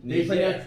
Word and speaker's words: Niger: Niger. They pronounce it, say it. Niger. Niger. Because it's a little spinoff with the French, so it's a little twist.